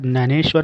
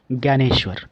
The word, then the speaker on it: ज्ञानेश्वर: नाउ संत ज्ञानेश्वर, इनका मराठी उच्चारण ज्ञानेश्वर होता है और हिंदी उच्चारण ज्ञानेश्वर।